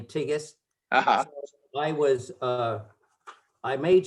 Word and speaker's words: Tsighis: i ran because most of the people couldn't pronounce my name my last name tigus i was uh i made sure and i